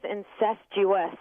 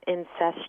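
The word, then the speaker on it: incestuous: word wrong you're mispronouncing the word is incest us not incest you'll excuse me Olivia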